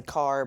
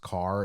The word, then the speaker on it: Kerr: I know some people say Carr, but I think it's Kerr Smith.